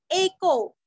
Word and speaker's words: एको: एको, ये को नहीं करना, हाँ, एकादशी का एको नैकस, न के ऊपर के दो मात्रा का उच्चारण भी अच्छे से करना है।